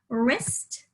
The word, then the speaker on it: wrist: The W is silent.